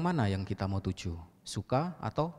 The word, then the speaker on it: suka: Lalu ada kata yang mirip, S-U-K-A, dibaca suka, artinya burung kakak tua. Suka yang mana yang kita mau tuju? Suka atau sukha?